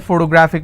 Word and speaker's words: photographic: I have it is if I have a word ending with IC I need to stress on the second last syllable so I'll print somebody has a photographic memory so what are the syllable break it's four toe bra thick and since this ending with IC I will stress on graph so whatever is the